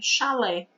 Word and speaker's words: chalé: Ela vai escrever X-A-L-E, chalé, tá certo? Mas a palavra não é escrita com X, ela é escrita com CH. Então, CH, eu tenho duas consoantes com apenas um som, que é o som de X, tá bom?